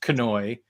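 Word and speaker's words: Knoy: forever to realize that his last name was pronounced Kanoy because it's K-N-O-Y, and you would think of all the people I would have pronounced the K, and I kept calling him John Noy.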